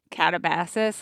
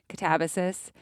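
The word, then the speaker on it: Katabasis: In my head, I always pronounced it Catabasis, like Calabasas or something horrible, but Melody has been coaching me. Catabasis.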